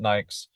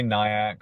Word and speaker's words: NAICS: I pronounce it NAICS. Some people say NIAC, some people say NICS, different pronunciations for the same thing.